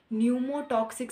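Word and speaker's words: pneumotaxic: पी यहाँ पे silent है, इसे क्या कहेंगे? न्यूमोटॉक्सिक centre.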